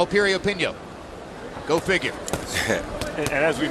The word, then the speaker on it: Piriyapinyo: Once again, the name begins with a P, but it's pronounced Piriyapinyo.